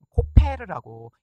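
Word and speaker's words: כֹּפֶר: 여기 나와 있는 역청이라고 하는 단어도요, 코페르라고 읽는 단어고요.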